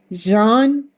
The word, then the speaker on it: Jeanne: LinkedIn Instagram and Facebook my name very simple Jean that's how you pronounce it right beautiful name beautiful